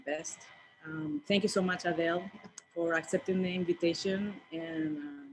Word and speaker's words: Adele: So my name's Adele is how you pronounce my name.